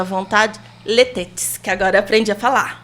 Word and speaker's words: Les Têtes: Então é letete. Letete, gente. Eu achei bom você tem fazer biquinho. É, se você quer fazer a pronúncia francesa, deve. Letit. Letit. É porque é francês.